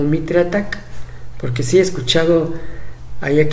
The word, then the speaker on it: MITRE ATT&CK: tiene esa doble función es un acrónimo y si tiene la intención de que parezca que dice ataque como ataque en inglés sea si tienes intención o sea no tengas miedo de pronunciando como mitre ataca porque si he escuchado